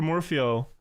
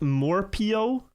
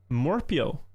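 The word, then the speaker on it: Morhpio: Disaster start for Morphio with four last places. Very unlucky. It's pronounced Morpio. It's not ph but hp in the name. Oh, true. Morpio.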